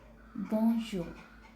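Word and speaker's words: bonjour: अच्छा, ये जो बोंजोर है, ये बोंजोर एंड पे आर है, इसको आर को पढ़ना है लेकिन बहुत लाइट साउंड में, मतलब कि आर का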